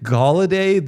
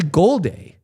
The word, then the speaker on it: Golday: content, and I'm realizing I'm calling Jake Galladay, the the Cincy linebacker. Galladay? It's actually Golday.